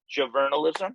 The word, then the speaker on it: JOVRNALISM: produce under the name javernalism that's how you pronounce it uh it's journalism but instead of the you are it's a vr because we thought that